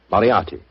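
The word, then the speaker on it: Moriarty: I'm afraid I'll have to begin calling it the way it looks. M O R I A R T Y. Miati. Moriati.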